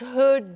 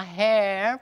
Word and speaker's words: her: What's her job? Aqui é a pronúncia do her. What's her job? What's her job? Não vai falar hair, porque hair é cabelo.